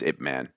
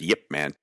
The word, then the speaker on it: Ip Man: - I do, and his name is Ip Man. You could also pronounce it as Yip Man.